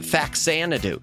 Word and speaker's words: Faxanadu: And they shortened it there as Fazanadu. Well, when they brought it to the US, they brought it as Fazanadu still, but no one knew how to pronounce it, so everyone called it Faxanadu.